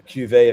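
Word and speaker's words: cuvée: So, you just made what's called a cuet. It's a cuet. A cuet. A cuet. A cuveet of beer. Yes. How do you spell that, Kevin?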